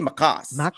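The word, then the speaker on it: Maccas: I'd say Macas.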